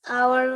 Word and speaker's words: hour: Yang manakah yang silent? Sudah sangat jelas ya. Hour, betul. Oke, boleh coba diterjemahkan?